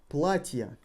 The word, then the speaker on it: платья: Платья. Платье. Yeah, we replaced ye with я. Платье. Платья. Can you hear the emphasis? Платье. Платья. Emphasis falls on a.